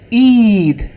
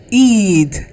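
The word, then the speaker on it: ঈদ: Eed. Eed. The It will be pronounced like double E. Eed.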